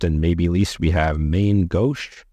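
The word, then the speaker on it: Main Gauche: maybe least we have main go pronounced go I looked it up go same name as the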